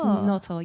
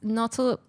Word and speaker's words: Notle: Nautil? Yes. So it's Nautil, yeah. So it's Nautil, which is... it's pronounced like noble, but the B is replaced with a T because he became a Christian.